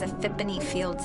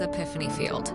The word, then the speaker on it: Epiphany Field: What kind of name is Aphipony Fields anyway? Wait, is it a fippony? It's uh it's Epiphany Field.